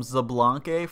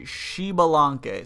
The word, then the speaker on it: Xbalanque: people pronounce that like it's crazy like people pronounce this thing so crazy I used to actually call him zblan for the longest time but his name is actually shalan so shiban it's really it's really difficult it